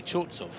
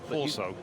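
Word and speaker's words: Chorzów: Cuz I say chzovso. Horso. Horso. Horso. Horso with a silent V at the end or W.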